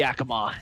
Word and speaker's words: Yakima: is what I'm do Yakama is how that's pronounced ah oh hang on